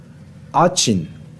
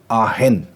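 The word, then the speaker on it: Aachen: अगर आप इंग्लिश में इसको प्रोनाउंस करो तो वो आचिन है, लेकिन अगर ये जर्मन का वर्ड है दोस्तों, ये फ्रॉम जर्मन लैंग्वेज, अगर जर्मनी में इसको अगर आप जर्मन में अगर आप इसको प्रोनाउंस करोगे तो वो आहेन, आहेन। और लेकिन हम क्योंकि इंग्लिश में पढ़ रहे तो हमें आचिन ही पढ़ना चाहिए।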